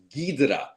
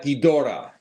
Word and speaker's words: Ghidorah: comes up it's pronounced gidra it's not gidora it's gidra so it's a it's a matter of the Japanese pronunciation and then the English